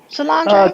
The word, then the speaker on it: Solange: Daddy, father of global dominant entertainer, Beyonce, and her sister, Solange. All right, did I pronounce her name right? Solange?